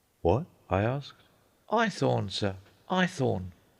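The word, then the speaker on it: Haythorne: my name's iorn what I asked iorn sir ithor spell it h a y t h o r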